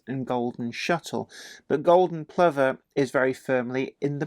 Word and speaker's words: Plover: I struggled with initially it's not pronounced as it's spelled golden Plover it's actually it's a bird and um has just it's pronounced golden Plover the name is a